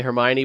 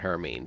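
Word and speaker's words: Hermine: heard some people say Hermione but then I heard a corrected ax that they that the National Weather Service or NOAA is pronouncing it her means there's no Oh in it oh is that what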